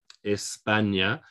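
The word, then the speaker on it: España: of the india okay espana we have to stress on the second syllable because the last syllable is a vowel okay espana colombia what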